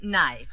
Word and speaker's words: knife: we're going to study Words which contain letters that we don't pronounce now Mr Bass will you volunteer to spell the word knife all right the knife uh k n i